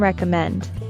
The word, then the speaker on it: recommend: Note that we stress the third syllable in recommend.